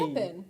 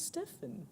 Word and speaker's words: Steppenwolf: Don't say it was the P. Steppen. No, it's Stephen. Like Stefan.